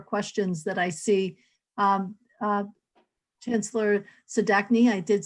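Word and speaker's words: Zdatny: Chancellor Sadachny, I did say it correctly.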